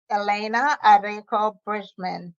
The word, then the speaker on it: Elena Arecco Bridgmon: And my guest today is Elena Arecco Bridgmon. Did I pronounce that right?